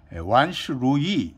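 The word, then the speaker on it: 万事如意: 맘대로 한다 이런 말씀입니다여이 만사여이 원스 루이 중국 발음은 그렇게 됩니다 그렇게 되면 이제 우리는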